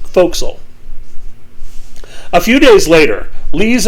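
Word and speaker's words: forecastle: four in the foxhole spelled for castle pronounced foxel a few days later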